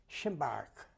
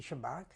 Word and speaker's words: Szymbark: When I come to that soil, we was stationed in a little township which was called Szymbark. Can you spell that?